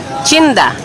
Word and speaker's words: chinda: corrupted in Ilonggo as chinda. not this taxi though. Chinda, as it is pronounced in Ilonggo, comes from the word tienda. In Ilonggo, it's pronounced chinda.